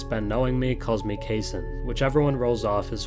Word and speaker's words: Cason: much less season at Kentucky you heard it pronounced casein rhymes with Jason but if you listen to Sam presti's post-draft press conference Thursday night it was pronounced cassan so the right pronunciation is kaison Wallace said revealing that the correct answer to